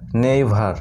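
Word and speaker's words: never: এখানে একটা নিয়ম তোমাদের মনে রাখতে হবে, যখন ই ভাওয়েলটি আর লেটারটির সাথে এই ফরম্যাটে ই আর এই ফরম্যাটে থাকবে তখন ই এর উচ্চারণ হবে আ, ঠিক আছে?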